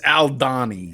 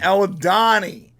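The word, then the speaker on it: Aldhani: 1 episode 4 titled aldohani I can't pronounce it what's it it's Al Donny aldani that's funny they should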